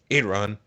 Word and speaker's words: Iran: Like, Iran, that's how you say it.